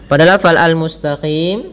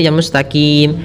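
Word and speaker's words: المستقيم: Mus mustaqim mustaqim Kemudian pada lafalqim ini huruf q hati-hati jangan mustaqim tapi Mustaqim pada lafal huruf qim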